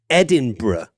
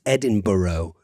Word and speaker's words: Edinburgh: If you do manage to get yourself to Scotland, it's important to pronounce this city Edinburgh and not as a lot of people in the United States say, which is Edinburgh.